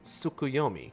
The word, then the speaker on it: Tsukuyomi: tea you claim us a table it is pronounced suku yomi correct figure from Far Eastern mythology no doubt